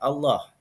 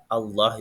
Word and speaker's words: Allah: jalalah adalah hukum bacaan lam di dalam lafaz Allah yang ditemukan di dalam al-qur'an jadi lam jalalah itu lam yang ada di lafaz Allah itu namanya lam jalalah ada dua macam bacaan